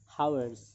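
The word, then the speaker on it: hours: প্ৰথম সাউন্ডটো লক্ষ্য কৰা ইয়াত এইচটো সাইলেন্ট হয় অৰ পৰাহে উচ্চাৰণ হয় মানে প্ৰথম সাউন্ডটো কি হয় ভাৱেল হয় গতিকে কি হ'ব তাৰ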